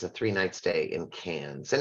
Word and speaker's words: Cairns: three night stay in Cairns and it is pronounced cans by the way you ignore the r uh and of course